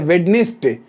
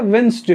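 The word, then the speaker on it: Wednesday: अच्छा, हम लोग बहुत देहाती भाषा में बोलते हैं वेडनेसडे, जबकि क्या होता है? वेंसडे होता है, ठीक है?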